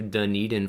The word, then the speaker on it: Dunedin: st george island all the way down to dunedin florida and yeah look i said it right